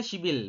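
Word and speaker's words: 십일: berarti ship shibil ya dibacanya shibil bukan ship Il tapi shibil dibacanya penulisannya seperti ini ship Il tapi dibacanya shibil ya seperti itu teman-teman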